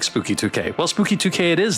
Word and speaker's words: SpookY2K: I do like Spooky 2K.